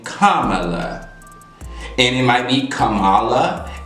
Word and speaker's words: Kamala: can't pronounce the name kamala and it might be kamala it might be kamala i can understand maybe not knowing where the emphasis goes on a name you know due to